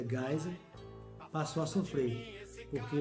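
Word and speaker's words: Geisel: ver depois né e se escreve geisa mas pronuncia gás passou a comprei porque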